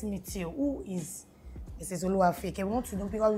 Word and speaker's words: Oluwafeyikemi: Yes, Oluwafeyikemi. I pronounced like a Yoruba lady.